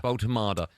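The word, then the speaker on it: Woltemade: Is it Voltemade? Voltemade. What can you tell us about him other than how to pronounce his surname correctly?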